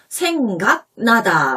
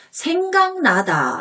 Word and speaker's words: 생각나다: 생각나다, 니은이나 미음 앞에 있는 기역 받침은 이응 소리로 발음돼서 생각나다 라고 발음하지 않고 생각나다 라고 발음하기 때문에 생강과 발음이 똑같은 것을 이용해서 농담을 한 거예요.